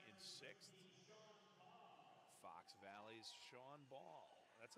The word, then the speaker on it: Bahl: sixth fox valley's sean ball that's another you know sean ball because it's pronounced or it's spelled bahl henry guo fourth place